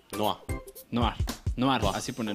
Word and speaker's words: Noire: Dice Samus que se pronuncia Noir. Noir.